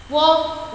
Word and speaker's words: walk: Walk, walked, walk, walked. In this word, L is a silent letter.